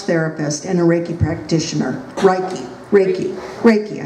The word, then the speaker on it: Reiki: Reiki, I said it right the first time.